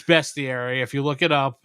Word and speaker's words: bestiary: going too much in that into that yeah it's spelled bestier too Rick is Right everyone always assumed it was beastiary but it's not it's bestiary I have no idea why but uh best